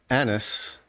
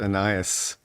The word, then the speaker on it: Annas: Jesus had already come before Annas, which was the high priest's. Did I pronounce that correctly, Andy? I was corrected last week. I said Ananias.